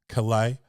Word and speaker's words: Calais: Then I've also had Calais Michael, and that's like clay but with 2 syllables. Calais, Kelai, Michael.